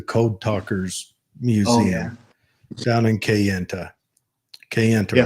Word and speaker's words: Kayenta: went to the Code Talkers Museum down in Kayenta, Yeah.